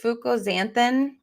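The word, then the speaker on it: fucoxanthin: we are going to okay it's fuk it's Fuko zanthin but it's spelled you'll see I'm going to share my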